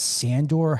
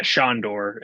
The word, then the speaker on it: Sandor: and then we've got is that sandor helderman yeah shandor yeah is how it's pronounced yes um yeah